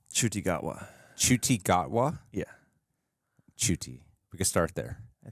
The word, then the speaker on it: Ncuti: last name is the easy part it's it's chuty sounds way easier to me say well it's when you look at it it's spelled ncuti so it's for americ don't throw